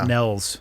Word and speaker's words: Niels: uh on his behalf your name is spelled like it should be niels the fact that it's nells yeah it's it's denmark